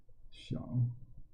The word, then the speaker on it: Xiao: character be my name xiao the x pronoun says the sh sound that's why she would